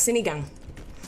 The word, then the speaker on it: Sinigang: How do you pronounce Sinigang? Sinigang.